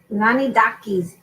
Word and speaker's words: Tzanidakis: And Tzanidakis.